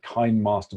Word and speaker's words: KineMaster: And then the best one on Android, I think what I use most is called KineMaster, K-I-N-E, like KineMaster, but pronounced KineMaster.